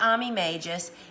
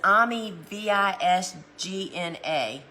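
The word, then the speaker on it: Ammi visnaga: Y'all, this is not Ami Magus. It's Ami Visgna.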